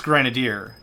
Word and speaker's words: grenadier: However, I said that out loud, and my mom heard me say that crap, and she's like, I think it's Grenadier.